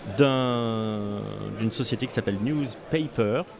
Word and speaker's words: NewsPayPer: une société qui s'appelle newspaper on doit dire paper parce que ça s'écrit bien news pays y per une société parisienne ouais